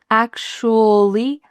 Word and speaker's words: actually: So the first part is ac. Can you say that with me? Ac. Ac. And the next part is just S-H-L-Y. Shly. Shly. Actually.